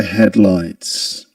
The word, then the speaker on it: headlights: We in the word headlights we accent the first um syllable head. The headlights. The headlights. And this is because this word is actually a compound noun. It's made up out of two nouns head and lights. And in compound nouns, we in English, we stress the first item in the comp in